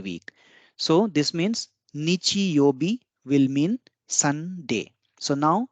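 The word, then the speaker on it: 曜日: element together with yo and B, that is yobi, together with the name of the element gives the name of the day of the week. So this means Nichi Yobi will mean Sunday.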